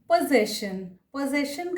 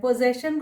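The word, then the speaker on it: possession: पोजेशन का मतलब है हमारे पास कोई चीज़ है तो इसको पोजेशन बोलते हैं। पोजेशन को कोई लोग गलती से पोजीशन बोल देते हैं, नहीं होगा, पोजेशन।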